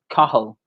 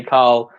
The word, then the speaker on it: Cathal: But the pronunciation for my name is Cathal. Or like sometimes people say it really quickly and they just say Cathal, both or are Cal. fine. Sometimes people say Cal. Never Cal.